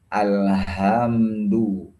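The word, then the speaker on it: الحمد: Nah, bacanya alhamdu. Nah, bacanya harus ha. Kemudian dhamma harus dimonyongkan ke depan. Alhamdu.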